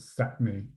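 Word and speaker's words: Sápmi: on the A and their land is called sat me s-a-p-mi and um it's just collectively known as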